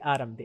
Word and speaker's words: Atom: It's called the Anvil Autumn. Yes, I think how am I need to say it in like in American accent? Autumn. Yes, the Atom. That's how they say it, the Americans.